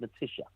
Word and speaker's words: Matilla: It's been you, Dan Thompson, and Ivana Matilla. I don't know. Is that how you pronounce her name? No, it's spelled Matilla, but it's actually pronounced Matisha. She's Argentinian, usually.